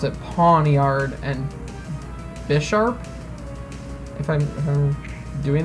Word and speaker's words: Pawniard: I always pronounced, I don't know why, but I always messed up and said Pawnaward originally, like as if, I don't know, I was like flipping letters around.